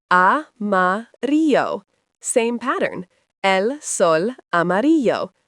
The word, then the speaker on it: amarillo: Yellow is amarillo, pronounced amarillo.